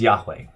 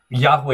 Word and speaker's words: Yahweh: Number one, Yahweh is the best educated guess we have as to how to pronounce this.